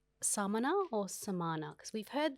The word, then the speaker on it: Samāna: What you're hearing there between those two words, Samana and Samana, is just one vowel, the middle A, being lengthened.